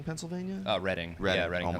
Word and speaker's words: Reading: you guys are from Reading, Pennsylvania? Reading. Reading. Yeah, Reading, Oh my Pennsylvania. God. What did I call it? Reading. It's spelled Reading, but it's called Reading.